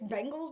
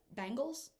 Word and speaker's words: Bengals: bottom field bengals and it's bengals by the way not i can't even say it like everybody else says it bangles that's weird like it's the bengals it's an e anyway um so go